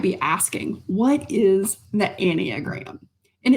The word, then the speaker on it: Enneagram: So you might be asking, what is the anagram? And it's spelled E N E A G- R A M but pronounced anniagram.